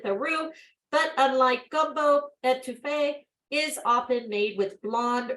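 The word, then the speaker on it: étouffée: Orleans version of Paola back to Faith uh pronounced etouffee uh comes from the French word to smother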